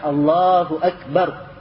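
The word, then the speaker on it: الله أكبر: kesalahan-kesalahan I ada sebagian orang membaca Allahu akbar dibaca Allahu akbar ya artinya lanya hanya gak dia habiskan Allahu dia selesaikan Allahu akbar dia gak selesaikan tapi Allah akbar jadi bentuk huya Hunya jadi wau Allahu Akbar begitu Akhirnya salah lagi ya Dan itu gak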